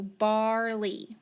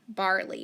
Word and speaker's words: barley: to underline e y the e is long and the y is silent so la e so barley barley very good all right